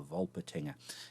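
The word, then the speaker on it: Wolpertinger: in my pronunciation there it's obviously something Germanic as I pronounce the W as a V of volt patina and there is ear version of a vole patina it's German more specifically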